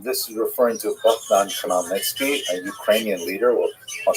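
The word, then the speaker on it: Khmelnytsky: It's actually pronounced Nitski with a guttural at the beginning.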